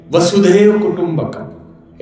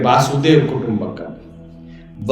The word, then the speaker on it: वसुधैव कुटुंबकम: जहां कहते हैं, नेता लोग कहते हैं और है सच्चाई, वसुधैव कुटुंबकम। एक बार गलत उच्चारण भी करते, वासुदेव कुटुंबकम। वसुधैव, वसुधा मतलब धरती, पूरी पृथ्वी, कुटुंब मतलब परिवार है।